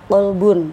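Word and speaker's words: قلب: Kita ambil salah satu contoh lafaz kalbun sama qolbun ya kan. Ah, kita tahu itu artinya kalbun. Nah, kan heeh guguk dengan qolbun artinya hati.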